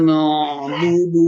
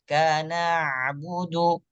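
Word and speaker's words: نعبد: antara huruf yang tipis dan huruf yang tebal Bacanya adalah er er arrahmanirrahim arrahmanirrahim arrahmanirrahim baik lanjut ayat keemp Maliki yaumiddin iaka naudu baik huruf Ain di sini adalah huruf tebal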